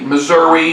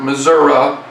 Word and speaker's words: Missouri: the people of the Muddy River, or the Missouri or Missouri, depending upon your pronunciation.